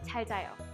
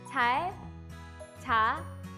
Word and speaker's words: 잘 자요: Let's first practice the pronunciation of 잘 자요. 잘 자요. 잘 자요. 잘 자요 is made up of two words.